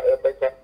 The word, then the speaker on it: Emeka: Just to correct that, you don't pronounce my name completely, it's Dr. Emeka.